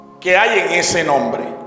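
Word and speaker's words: חי: Eso se pronuncia Hay.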